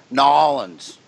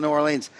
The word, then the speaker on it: New Orleans: It's pronounced Nolens. Nolens. Only people not from New Orleans call it New Orleans.